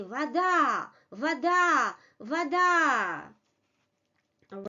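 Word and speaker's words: вода: For example, if you take the word water in Russian, which is voda, you see the second vowel is stressed, voda. And this first vowel in the first syllable loses its quality.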